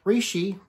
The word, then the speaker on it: reishi: known as ganoderma linger reishi reishi rishi you can pronounce it how you want is one of the